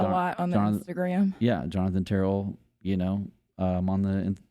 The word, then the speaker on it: Terrell: them uh at least Terell yeah spelled like Corell but just uh you know west of Louisiana he hates when people pronounce it ter you know but now